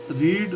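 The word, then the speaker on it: read: tense का है तो रीड की first form रीड रेड रेड तो स्पेलिंग सेम है आर ई ए डी लेकिन सेकंड फॉर्म के लिए इसको यहां पर हम रेड बोलेंगे तो यह मैंने सप्ताह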